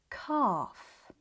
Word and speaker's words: calf: The L is silent, but it changes the vowel sound, making it longer and deeper. This also happens in words like calf and palm.